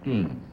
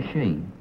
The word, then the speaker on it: ski: Number 1, is it pronounced ski or she? Ski in the United States. And in Europe? She. She? Why the difference?